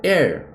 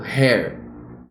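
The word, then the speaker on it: heir: R Air herdeiro é Air nesse caso o h é mudo também porque eu falo Air Eu não falo her né her falou Air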